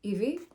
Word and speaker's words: Hebe: of the Greek goddess Hebe, or as Greeks would probably pronounce it, Ivi.